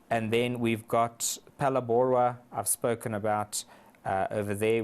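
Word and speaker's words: Phalaborwa: Number 7 is the Palabora area, which is just here next to Nelspruit, Palabora, and we spell that P-H-A-L-A-B-O-R-W-A.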